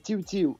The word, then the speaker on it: TIIW TIIW: euh juste une question TIW ti on se prononce bien TIW ti ouis c'est TIW tiu c'est ça c'est exactement ça d'accord Ross j'